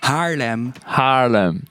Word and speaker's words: Haarlem: Okay, Haarlem. There's no G in there. Okay. Haarlem. Okay. Haarlem. Hagelslag eating, tulip growing. The trouble is it's that guttural G, which I struggle with. There's no G in Haarlem.